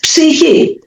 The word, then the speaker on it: psyche: he here, like psyche, in the English language is written with CH and it's pronounced K. So we have psyche, but it's psyche.